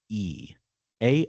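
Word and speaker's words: Aoife: Uh, a A O F E. A O I F E is how is how it's spelled.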